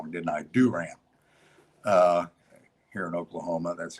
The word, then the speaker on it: Durant: of the record that oklahoma presbyterian college of durant which just out well i said it wrong didn't i do ram uh here in oklahoma that's how you pronounce